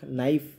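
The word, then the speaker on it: knife: হবে নয়ের মতো হবে এই ক্ষেত্রে কের খের উচ্চারণটা অনুচ্চারিত থাকে খেটা অনুচ্চারিত থাকে যেমন বলছিলাম নক নাইফ নেক লেখার ক্ষেত্রে কিন্তু সবগুলোতেই খে আছে শুরুতে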